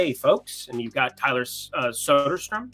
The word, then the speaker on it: Soderstrom: I mean, Blade, folks, and you've got Tyler Soderstrom. I believe that's how they told me to pronounce it.